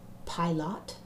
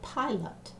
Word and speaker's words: pilot: stress the lot or do we say pilot as dress the pie you can have the student call this word to dinner pilot and you can hear that the pi is the stress part for this case we